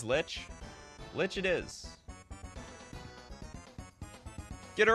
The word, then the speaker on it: Lich: brand I love it rhymes with itch so it's it is Lich Lich it is get